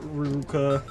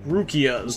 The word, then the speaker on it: Rukia: the sword of uh ruka definitely said her name wrong rukia's there we go not ruka there you go rukia's